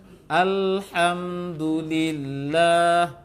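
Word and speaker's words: الحمد لله: Alhamdulillah. Coba. Alhamdulillah. Jadi itu nanti ya Zaki tasdid itu. Karena belum pas pengucapan hanya. Aha. Ya. Satu di sama-sama tenggorokan dua-duanya. Yang satu tenggorokan bawah, yang satu tenggorokan tengah.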